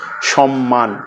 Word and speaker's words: সম্মান: আবার যদি ম ফলা যুক্ত হয় যেমন হচ্ছে সম্মান উচ্চারণটা হচ্ছে সম মান অর্থাৎ ম এর উচ্চারণটা রয়ে